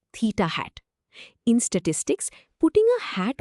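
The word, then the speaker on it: θ̂: The symbol theta with a little hat on it is pronounced theta hat.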